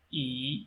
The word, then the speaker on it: 一: and we said that if E is followed by a syllable having fourth tone mark, then the first tone mark of E will be changed into second tone mark. So it will be rather just like this: 一块.